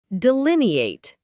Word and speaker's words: delineate: Delineate, pronounced as de-lin-e-ate, is a verb that means to describe or portray something precisely.